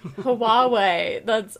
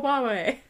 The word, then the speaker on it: Huawei: Huawei. Yeah, it's an H that maybe you say more like a W.